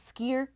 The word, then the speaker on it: skyr: The yogurt is an Icelandic skyr. A skier? Yeah, Oh, I'm saying it right. S-K-Y-R.